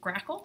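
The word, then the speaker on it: GRACoL: I'm just gonna interject it's pronounced crackle oh and I feel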